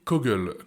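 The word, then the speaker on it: Coggle: devoir passer un abonnement payant également troisième outil cogle cogle ça s'écrit C o g g l e cogle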